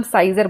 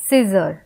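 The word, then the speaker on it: Caesar: silent होता है जैसे सीजर में ए साइलेंट है क्योंकि यहां पे ए का उच्चारण कुछ भी नहीं आ रहा हैना ना हम सेजर बोल रहे हैं ना हम साइजर बोल रहे हैं हम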